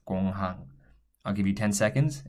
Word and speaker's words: 공항: This one as well, with an English pronunciation, you might want to say gong hang or something like that. I don't really know. So that's not how it's pronounced in Korean. It's pronounced as 공항.